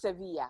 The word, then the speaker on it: Sevilla: How Yeah, do they so pronounce it? Sevilla? it's Sevilla, yeah.